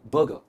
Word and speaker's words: burger: It's called बर्गर। Again are is silent, it इज बर्गर एंड नॉट बर्गर।